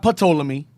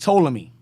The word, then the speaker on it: Ptolemy: He's not Ptolemy. It's just Ptolemy.